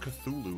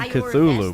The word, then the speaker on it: Cthulhu: Is that how you say Culu? It's not Cthulhu. It's Cthulu.